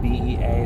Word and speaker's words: Bea: I think it's Bea, or B is here actually, but it's spelled B-E-A, so I say Bea or something, I don't know.